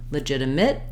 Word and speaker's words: legitimate: J sound Le legitimate the letters I both say the if sounds and then finally at the end we also have a situation where we might have a legitimate or legitimate it doesn't really matter too much I can use the the uh sound the schwa here or the e